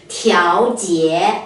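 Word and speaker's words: 调节: 有一个发音是调，调节啊。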